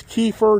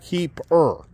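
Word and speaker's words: kief: go smoke your cannabis so just so you know it's Keir not keeper so and it's spelled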